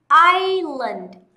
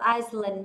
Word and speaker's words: island: Island, island. Hana cũng đã giải thích cho các bạn rồi đúng không? Island không đọc Iceland nha.